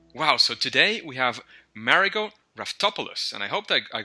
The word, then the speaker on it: Raftopoulos: engaging Learning Materials wow so today we have marot topos and I hoped that I got that last